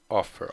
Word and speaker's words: offer: the stress on offer is it on the first or on the second syllable do you say off what do you say offer offer on the first the first very good so if